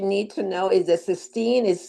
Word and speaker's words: cysteine: CYSTEINE. Is that correct? Yes, 16. And then you pronounce it cysteine.